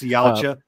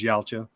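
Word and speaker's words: Yautja: even gonna say that word Matt could you pronounce thank you it's yala Predator real name is yaala cool coolness I knew you would know it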